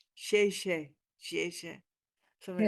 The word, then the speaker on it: 谢: Shay Shay. 嗯 You're So welcome. the only thing I know, right? And I don't even say it right. It's not, it's like 谢 Shay 谢，谢谢。 Shay, like that.